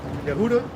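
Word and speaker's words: יהודה: 18 to 28, but the way you pronounce it, or that they have you pronouncing it, is Yehuda. Yep. Yehuda, which we already understand that goes into Yehowadah, which was Judah.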